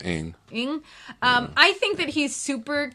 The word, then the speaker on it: Ng: How do you pronounce N and G together? I'm sure. sorry. Yeah. Somebody, Brian is the pronunciation expert. Yeah, I think it's Ing.